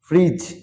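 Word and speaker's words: fridge: না budget budget রিজ রিজ মানে পাহাড়ের কিনারা ফ্রিজ মানে ফ্রিজ স্যান্ডউইচ সেনইচ মানে সেনোইচ অনেস্ট মানে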